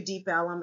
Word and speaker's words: Deep Ellum: called Deep Ellum but pronounced it was it's pronounced Deep Ellum so Elm Street is a street that runs through Deep Ellum and that's where it got its name okay